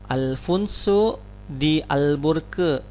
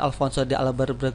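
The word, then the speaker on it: Afonso de Albuquerque: ya bacanya Bagaimana ini kalau bahasa portugisnya adalah Alfonso d'albuquerque lagi ya Alfonso dial burke kadang kita membacakan Alfonso de Albuquerque Hai nah ulangi lagi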